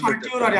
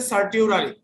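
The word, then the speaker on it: certiorari: Writ of সার্টিউরারি আমি উচ্চারণ বলে দিচ্ছি, CER স্যার, CER TIO। তাহলে আবার বলছি CER TIO RARI স্যার। CER TIO RARI, বাংলায় হচ্ছে উৎপ্রেষণ রিট, ইংরেজিতে সার্টিউরারি।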